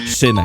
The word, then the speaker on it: szvmek: Oh, also, you pronounce my name as szvmek, not, not szvmek, not, it's szvmek.